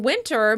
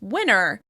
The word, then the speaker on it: winter: The season "winter" may be pronounced "winner, winner," so it sounds kind of like someone who has won.